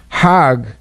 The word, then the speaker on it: Hajj: Now, Hajj is a pilgrim to Mecca. Hag is the Egyptian pronunciation. Hag in Hebrew means a holiday or going around in circles.